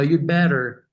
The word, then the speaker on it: you'd better: But but you say it so fast that you can barely hear it. So, you'd better So, some people even Some people even omit the the sound.